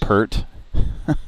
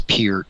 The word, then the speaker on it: Peart: It's not Pert? It's Peart.